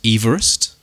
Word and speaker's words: Everest: Mount Everest yes is named after correctly pronounced Everest all right is named